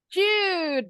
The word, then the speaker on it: chewed: Chewed. Bacanya chewed. Ada bunyi D-nya.